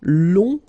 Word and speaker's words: long: Okay, so long, remember you don't pronounce the final G, will become longue.